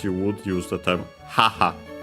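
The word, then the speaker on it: 母: would use the term haha uh should be accent on the first syllable, but it's sec.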